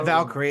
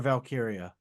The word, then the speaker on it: Valkyria: valkiria well then they it's not Ty Valkyrie it's Lyra valkyria okay anyway so I